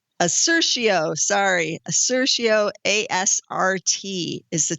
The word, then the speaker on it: Assertio: had amerisource bergen big pharma abc we had a ristio i can't pronounce it the one i can't pronounce assertio sorry assertio asrt is the ticker on that